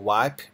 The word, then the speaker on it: Vibe: ตัว True Lenovo 4G wive p1m นะ ครับ ต้อง ขอ อภัย ด้วย ครับ เมื่อ สัก ครู่ อ่าน ผิด จริง ๆ ต้อง อ่าน ว่า wip นะ ครับ ตัว นี้ นะ